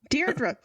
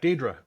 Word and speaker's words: Diedre: but there's I'm pretty sure there's no a deardra look at the pronunciation of that name do it right now